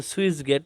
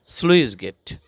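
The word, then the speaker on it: sluice gate: আহ্বান তারপরে সুইস গেট অনেকে বলে সুইচ গেট সুইস গেট না এটা হবে সুইস গেট এরকম কিছু কিছু উচ্চারণের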